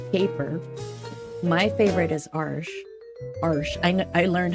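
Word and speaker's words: Arches: made for watercolor paper my favorite is arsh arsh I I learned how to pronounce that arsh so that's my favorite but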